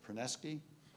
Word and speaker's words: Perneczky: Ana, Perneczky, Ana Pereira from the Icahn School of Medicine, and Perneczky. Is that pronounced it correctly?